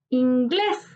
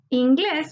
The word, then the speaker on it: inglés: Inglés. Inglés, su sílaba tónica está en inglés. En la última sílaba encontramos la sílaba tónica, por tanto es una palabra aguda.